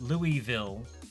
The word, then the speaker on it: Louisville: And there's Louisville. And, like, 10 miles away is Shelbyville, which is pronounced Ville, but Louisville is not pronounced Ville, it's pronounced Vol, because America.